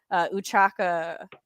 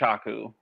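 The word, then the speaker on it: Ochaco: Uchaka, I think, is that how I say her name? I think it's Ochaku. Oh, Ochaku. She like had great potential.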